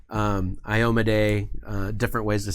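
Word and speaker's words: Iomedae: At that point, I will tell whoever's making this, like, it's pronounced Kyra, it's pronounced Iomade, it's pronounced Yonda-Bakari.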